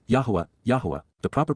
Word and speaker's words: Yahowah: this advice please be aware and then W Yahweh Yahweh the proper pronunciation of the name of yoah God as